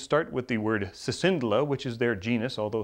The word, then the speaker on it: Cicindela: Their names start with the word Cicindela, which is their genus, although some people pronounce it Cicindela and some people pronounce it Cicindela.